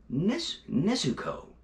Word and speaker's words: Nezuko: this yeah they do funimation does switch up the way names are pronounced sometimes so they're calling nesco nizuko but yeah really glad